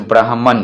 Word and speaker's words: Brahman: अब देखिए BRAHMAN, इसके अंत में भी MAN है, लेकिन इसका प्रोनाउंसिएशन मैन नहीं होता, मन होता है, जैसे ब्राह्मण।